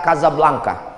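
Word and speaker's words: Casablanca: Hasan i di kota kazablanca ibukota Maroko tempat saya kuliah nama negaranya nya Maroko ibuotanya tulisannya Casa Blanca cara bacanya kazablanca Kaza artinya rumah blanka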